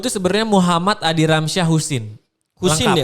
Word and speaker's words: Choesin: Nama lengkap gue tuh sebenarnya Muhammad Adi Ramsyah Husin. Husin Lengkap. ya, bukan Hussein. Bukan, jadi ejaan lama memang CHOESIN tapi dibacanya Husin.